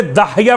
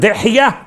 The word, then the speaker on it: دحیہ: لوگ تلفظ میں اشتباہ کرتے داہیہ پڑھ دیتے ہیں. داہیہ کا ترجمہ ذرا سا نامناسب ہے. اصل لفظ دحیہ ابن خلیفہ الکلبی.